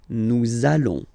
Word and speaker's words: nous allons: I'm sure you are, you want to make this beautiful and little liaison, so this little link between the words, so it does mean that you will have to pronounce this z sound, okay, listen to me, nous allons, nous allons.